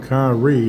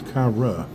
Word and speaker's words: Kyra: It's not Kyrie, it's Kyra.